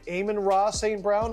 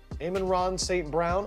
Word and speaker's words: Amon-Ra St. Brown: Amon-Ra St. Brown? Amon-Ra St. Brown? I think you nailed it the first time. Amon-Ra St. Brown.